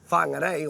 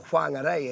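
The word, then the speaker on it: Whangārei: However, that kōrero doesn't quite apply, I believe, when it comes to our mita, because when I come to whangarei, or whangarei, as we would say, Whangarei.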